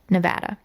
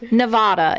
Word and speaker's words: Nevada: And the whirlwind love story of Jasmine Fiore and Ryan Jenkins began back in March of 2009 in Las Vegas, Nevada.